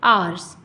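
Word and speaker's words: hours: यहां पर क्या है जो एच है वो साइलेंट है हम हार ना कह के हम क्या बोलते हैं आर्स ठीक है सो साउंड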